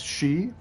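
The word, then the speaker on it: sidhe: play RPGs the uh the sit is she but there's another way that's spelled s d h e that's also pronounced she and it means the same thing you're welcome like since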